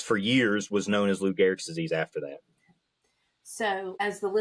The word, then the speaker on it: Lou Gehrig: am I Yes, pronouncing ma'am. that correctly? Yep. If not, Lou Gehrig's disease.